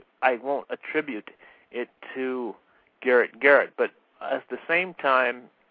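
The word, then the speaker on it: Garet Garrett: his name is pronounced Garrett Garrett that's correct as in attic because that's what a garrett is an anglo-saxon but he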